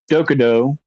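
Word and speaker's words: Dokkōdō: Um, and the Dokudo, I'm pretty sure is how you say that, but it's the way of walking alone.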